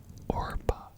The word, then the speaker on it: Orpah: isn't oprah on paper oprah's real name is listed as orpah however people often mispronounced it which is why she took on oprah winfrey as her name that's crazy she was